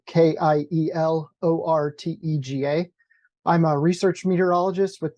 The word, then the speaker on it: Kiel Ortega: out your name and tell us how to pronounce it, and what would you like us to call you? Sure. My name is Kiel Ortega, Kiel Ortega.